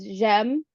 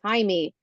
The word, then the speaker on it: Jaime: I also just tell people it's Jem. It's like Jem in French, Yeah. or Siri pronounces it as Jaime, which is now my Spanish alter ego.